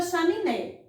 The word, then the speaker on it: chaminé: Percebam que eu enfatizei muito mais a sílaba né.